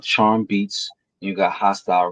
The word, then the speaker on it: Hastyle: H A S T Y L E. Pronounced hostile, not hasty. Oh, hay style.